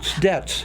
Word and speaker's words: Dietz: Oh, it's Dietz. Dietz. But down through the years, there maybe 50% of the people who know me always say Dietz, and I've never corrected them.